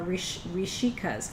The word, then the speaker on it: Rishika: And the female rishis are Rishikas, R-I-S-I-K-A-S, which you could also say Risika. Okay, Rishika or Risika.